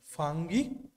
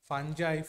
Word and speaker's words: ফাঙ্গি: আর এইটা হচ্ছে কি ফাঙ্গি বা আমার ফাঞ্জাই ফাঙ্গাস যে যেভাবে উচ্চারণ করে হ্যাঁ ফাঙ্গিও হয় ফাঞ্জাই হয় ফাঙ্গাসও হয় ঠিক আছে চলো যার যেটা উচ্চারণের স্টাইল ওকে চলো আচ্ছা তাহলে এই